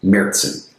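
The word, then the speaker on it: Märzen: And also the Z sound in German is usually a TS type of sound. Meritson and it means March.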